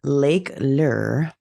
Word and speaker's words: Lake Lure: Recently I went on a family vacation to Lake Lure.